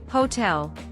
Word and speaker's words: hotel: one one in teacher Hotel the H is pronounced and the vowel sound is different idea the letter i